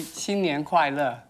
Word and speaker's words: 新年快乐: We say 新年快乐.